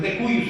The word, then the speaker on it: de cujus: que se le denomina de cuyus, ¿se acuerdan que se los mencioné? Sí. De cujus, pero es de cuyus, así pronuncia.